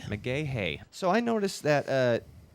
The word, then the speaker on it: McGaha: how do you pronounce your last name exactly pronounced mcgahey mcgahey so i noticed that uh you know like